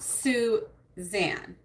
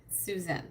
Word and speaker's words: Susan: Not Suzanne with an E-N. Susan.